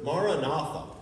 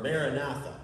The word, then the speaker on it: maranatha: the corinthians the apostle paul used the word maranatha or maranatha however you want to pronounce it which is aramaic for oh lord